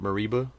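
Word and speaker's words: Mereba: yeah, How do I pronounce her name? Mariba.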